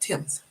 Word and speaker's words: Thames: like take the t-h-a-m-e-s looks like Thames is pronounced Tim's uh well and then you got um uh